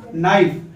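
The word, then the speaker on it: knife: Okay दोस्तों, now next sentence आपका के एन आई एफ ई, एन के पहले के आ गया तो के साइलेंट रहेगा और डायरेक्ट यहां से पढ़ा जाएगा नाइफ।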